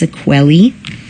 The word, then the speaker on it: sequelae: to be familiar with it's pronounced sequelly it's written right here